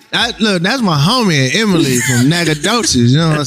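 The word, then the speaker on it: Nacogdoches: I can't pronounce it. Please welcome downtown Emily Brown. Hey y'all. Nagadocious.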